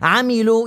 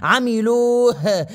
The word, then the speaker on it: عملوه: ويجادل الذين كفروا بالباطل حرف الهاء هو حرف ضعيف جدا وفي ناس ما عم تنطق وتخفيه عملوا يا اخي انطق الهاء عملوه شروه انطق الهاء وحرف الجيم في ناس